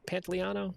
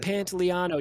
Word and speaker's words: Pantoliano: Pantoliano? Is that how you say it? I believe so. Uh, You guys familiar with that actor? No. Nope. Joe No. Pantoliano.